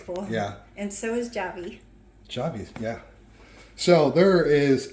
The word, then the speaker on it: Javy: Javy.